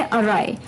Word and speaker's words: awry: अभी के लिए जो फोर्थ वर्ड है वो थोड़ा अटपटा है, प्रोनाउंसिएशन कुछ और है और स्पेलिंग कुछ और। वर्ड है अराय।